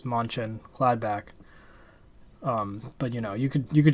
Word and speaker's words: Mönchengladbach: Mönchengladbach. Mönchengladbach.